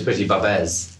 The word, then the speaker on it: Pretty-Babs: Is that how you pronounce it? That's right. No, cool. it's Pretty-Babs.